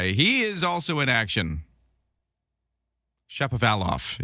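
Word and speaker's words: Shapovalov: Chappavalof is how you say Dennis Chappavalof's name as he plays at Wimbledon today.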